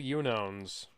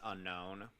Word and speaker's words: Unown: thought they were called unowns no it's pronounced unknown also the unknown as